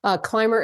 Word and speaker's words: Climer: Climer is spelled Climer. So there's no B in it.